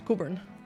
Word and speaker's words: Cockburn: It's spelled Cockburn. You don't pronounce it like that. You just sound like a fucking idiot if you're not from here. It's Coburn.